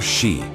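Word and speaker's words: 四: The number 4, shi, sounds like the word for death in Japanese, making it an inauspicious choice.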